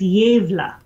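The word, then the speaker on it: Gävle: But YouTube says it is, the A should rhyme with save, so it's Yevla.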